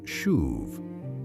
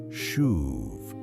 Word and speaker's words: shuv: The Hebrew verb here is shuv, pronounced as if you were blowing the word, shuv.